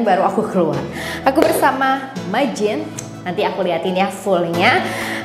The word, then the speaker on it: Magene: Aku bersama Majin. Nanti aku liatin ya fullnya. Aku bersama Majin, tulisannya M-A-G-E-N-E. Tulisannya ya, M-A-G-E-N-E, bacanya Majin, Majin, oke?